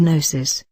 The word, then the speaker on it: gnosis: form independent of personality the g is a silent letter as in our word gnosis and the sound gn